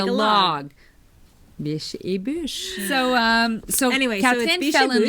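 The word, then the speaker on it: Biches et Bûches: I hear so many variations on how to pronounce Biche et Bush. Oh. It's Biche et Bush, you guys.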